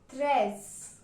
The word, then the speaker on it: treize: 13 is pronounced in French as treize.